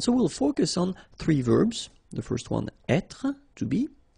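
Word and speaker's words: vert: So masculine form you don't pronounce the final t feminine form ver. So listen carefully I don't say t but it's t ver. Okay. So as usual this final uh only gives you the possibility to pronounce this t ver.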